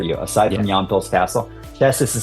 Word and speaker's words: Česis: Česis is spelled Cesis. Česis and Kuliga are very historic and interesting, charming